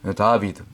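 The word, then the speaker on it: דוד: 다 다 혹은 다윗 다비드 원래 발음 다비드 이게 이제 다윗의 숫자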